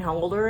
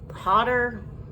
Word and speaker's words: Hodder: The Rise of Leslie Vernon, and it's got little cameos from Kane Holder in there. Kane Holder. I'm saying his last name wrong. Hodder.